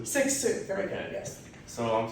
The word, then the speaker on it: Cixous: All right, one more time, how do I pronounce it? Cixous? Cixous.